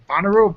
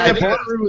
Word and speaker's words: Bonnaroo: Like Bonnaroo, Buckaroo? How do you pronounce this? That's how you pronounce it? Yep. Not Bonaro is going on right now in Manchester, Tennessee.